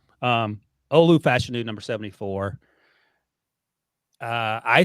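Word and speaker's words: Olu Fashanu: the summer and uh number 74 left tackle Olu fashion I found out is how he pronounced his name called the Joel Clap by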